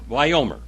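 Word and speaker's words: ויאמר: very much you got a plus for that wyomer and that's it it is w a y y o m e r wyomer wyomer wyoming el heville okay let's read this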